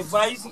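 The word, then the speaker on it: wijd: The Dutch people say vice. It's mean the mouth is large. English cannot pronounce it. They say white.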